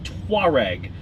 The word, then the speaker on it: Touareg: I drive the Touareg. Yeah. Touareg. There you go. Two distinct syllables.